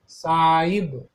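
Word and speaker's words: Sahib: Spelling तो साहिब है, लेकिन आप बोलते वक्त साहिब बोलता है. H is silent.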